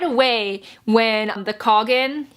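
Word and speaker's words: Khagan: And so right away when the Coggin, yes, it's pronounced Coggin.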